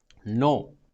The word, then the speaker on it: know: नो means नहीं, एंड KNOW, नो means जानना. Okay, जानना. नो साइलेंट होता है कि.